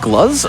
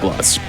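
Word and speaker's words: Gluz: voiced by Alyssa white gloves of Arch Enemy also if you've played metal helsinger you will understand that voice as well as Alyssa white gloves I believe it is pronounced gloves so uh and then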